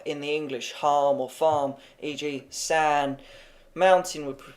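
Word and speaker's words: 花: Ah, like the ah in English star, e.g. far. Flower would pronounce far.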